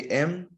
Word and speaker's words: empty: You have that word, empty, but you don't pronounce. You can only say empty, and that's it. The P is silent.